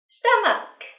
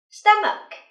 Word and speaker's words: stomach: có bóp thức ăn stomach stom chú ý âm ch cuối từ chúng ta sẽ phát âm thành nhé stomach stomach phật tử tiếp